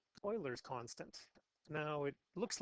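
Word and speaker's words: Euler: constant which is called Oilers constant now it looks like it's pronounced uler given the words up here but actually the way this is pronounced is Oiler kind of like Edmonton Oilers okay so Oilers constant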